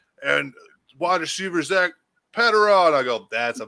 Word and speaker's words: Patraw: Yeah, it's Patraw. It's not Petro, whatever Ben said. Pedro.